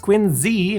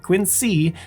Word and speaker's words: Quincy: As for Quinsey, which yes, is pronounced Quinzy, not Quincy, the city is home